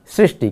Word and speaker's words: सृष्टि: हाँ ये वाला है सृष्टि। देखिए तो यहाँ पर सुख और सूक्ष्म के बाद आएगा सृष्टि, क्योंकि इसके साथ री जुड़ा हुआ है, इसीलिए हम इसका उच्चारण भी करते हैं सृष्टि।